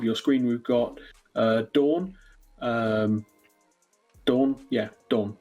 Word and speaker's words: Daan: Daan, that's the way you pronounce it.